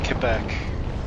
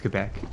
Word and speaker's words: Quebec: And that's like Quebec. Is it Quebec or It's Quebec. Quebec? That's just the proper pronunciation in French.